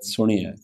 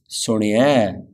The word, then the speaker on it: Suni-ai: Finally, it's got dulam, not alam, which are the two lines, the last vowel, on top of the era. Suni-ai, not Suni-ai. Slight difference, yeah? Not Suni-ai. Suni-ai. It's got an a sound to it.